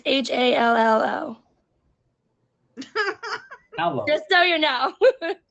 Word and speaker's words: Hallo: How do you say hello in German? Hello? It's HALLO.